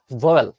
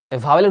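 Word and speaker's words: vowel: তার মানে ওটা ভয়েল। ভাওয়েলের উচ্চারণ কি আসলে জানো? ভয়েল। ভাওয়েলের উচ্চারণ মানে ভাওয়েল বলেন, এটা উচ্চারণ আসলে ভয়েল। তো ব্রিটিশদের মতো করে বললে ভয়েল বলতে হবে, দরকার নেই আমরা ভাওয়েল বলবো।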